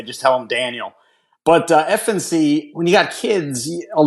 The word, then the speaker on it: Efenecy: But Efenecy, when you got kids, all the teachers are calling. Hey, how do we pronounce this? And I said, it's pretty easy, like 3 letters, an FNC.